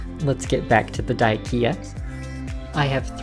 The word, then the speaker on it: Dyckia: Excuse my German, but his name was Josef zu Salm Reiferscheidt Dyck, so it seems more correct to pronounce the name as intended Dyck than add the ending ia for Dyckia.